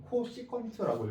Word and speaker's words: CSC: 읽어줄 때는 뭐 일단 CSC 읽어줄 때는 코시컨트라고 읽어줄 거고요.